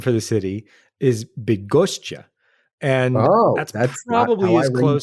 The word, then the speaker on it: Bydgoszcz: The Latin name for the city is Bydgoszcz.